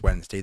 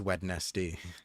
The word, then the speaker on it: Wednesday: about the fact that we don't pronounce Wednesday the way it's spelled and people say oh